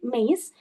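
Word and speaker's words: MEYS: So basically this maze uh sorry we we uh like shortly we call it maze we pronounce we pronounce it maze uh stands for middle is summit.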